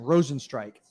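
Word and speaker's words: Rozenstruik: blades versus i know i know how to pronounce his last name rosen strike is how you pronounce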